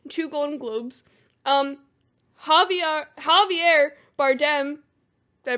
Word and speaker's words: Javier Bardem: picture three Baptists two Golden Globes um Javier Javier Bardem did I pronounce that correctly yep yeah um he was